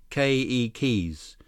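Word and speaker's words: keiki: to tell you that every letter in Hawaiian word is pronounced here's how you say children in Hawaiian ke keys with the accent on the first syllable okay Li ke ke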